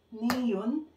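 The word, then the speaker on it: 니은: So, ang tawag dito is kiyo, niyun.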